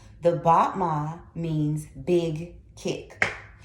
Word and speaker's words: battement: Once again, it's in French, so let's get this spelling. Battement. So it's B-A-T-T-E-M-E-N-T. Battement. You'll hear me say it enough to where you'll get the pronunciation.